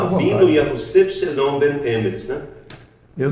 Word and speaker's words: Yahusef: Eu pronuncio Yahusef.